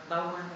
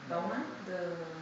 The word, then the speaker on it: Bauman: So, do you know the Bauman idea about liquid modernity? Bauman? No? Maybe I don't pronounce it correctly.